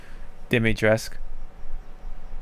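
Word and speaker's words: Dimitrescu: um with um lady demetresque even though it says cu you don't see the cu part it's tresc dimitresque which is interesting i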